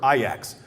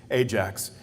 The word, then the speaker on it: Ajax: European soccer star for IX or pronounced as some people who aren't soccer enthusiasts Ajax he was a huge